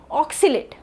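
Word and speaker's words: oscillate: ओ एस सी आई एल ए टी आई osilat ऑक्सिजनेट सो D word which इस हज डी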